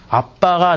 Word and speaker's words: 아빠: 우리말 그 아바라고 번역되어 있는데요. 아빠가 더 맞는 발음이에요.